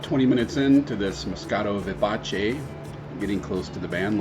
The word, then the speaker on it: vivace: for lively and vivid it is pronounced vivace in the international phonetic alphabet vivace is used as